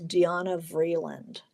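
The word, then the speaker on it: Diana Vreeland: who uh uh uh her name was Danna Vland, spelled like Diana Vland, who she was very funny.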